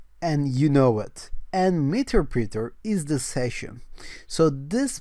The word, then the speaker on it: Meterpreter: write meter printer so it's either pronounced that as meterpreter or materpreter it depends on the country that you live in i believe so i'm going to call this meterpreter and it's spelled as